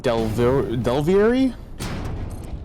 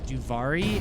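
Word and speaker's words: Duviri: Read Delvieri? Yeah, What is Delvieri? Well, it's spelled slightly improper there, but it's Duvari, and it is a entirely separate world that Hans loves to farm the weapons in Warframe.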